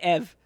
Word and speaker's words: Eevee: It's Eve. Ev. We So- added a couple of E's at the end, Yeah. but it's Ev. It's Eve. It's Eve. It's just spelled different. It's spelled with 4 E's.